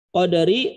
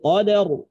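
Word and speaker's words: قدر: Maka cara bacanya ro-nya itu dibaca mufakhamah, tebal, tafkhim, dibaca tebal. Fi lailatil qadar. Qadar. Fi lailatil qadar. Nah, dibacanya seperti itu, dibacanya tebal. Ini yang kadang-kadang di masyarakat ketika kita baca ro-nya ini hilang.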